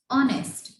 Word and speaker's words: honest: The next one is honest, HONEST. It's not honest, it's honest. We take start from a vowel sound O.